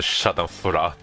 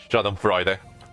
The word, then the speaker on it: Schadenfreude: The Schadenfreude. I can't believe I know how to pronounce that.